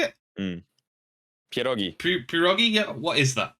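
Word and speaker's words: pierogi: PR is how do you say it pirogi pirogi yeah what is that like pirogi is um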